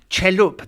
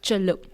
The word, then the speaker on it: Celup: You are the actor, writer, producer, the whole kit and caboodle of Singapore's Fringe Festival, Celup. Now, am I pronouncing that correctly? Yes, you are. You are. It's Celup. Celup.